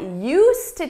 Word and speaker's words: used to: You don't hear it in pronunciation, but it's there in spelling.